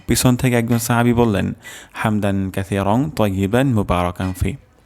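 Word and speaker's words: حمدا: নেই রব্বানা ওয়ালাকাল হামদ হামদান হামদান এখানে হাও হবে গলার মাঝখান থেকে উচ্চারণ হবে হামদান কাসিরং সা কাসি সিন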